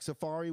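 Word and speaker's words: Safaria: that i went through sephora how do you spell that it's s-a-f-a-r-i-a like safari with a yeah but it's pronounced safari yeah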